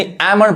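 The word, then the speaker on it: almond: W silent है और इस वर्ड में एल साइलेंट है यानी एमन पढ़ाए एल मंड गलत पढ़ाए अब देखिए यहां पे कप बोर्ड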